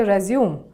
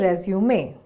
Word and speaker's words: resume: When it's used as a verb, we say resume, but when it's used as a noun, we say resume. In the second instance, we pronounce the letter E, whereas in the first, the E is silent.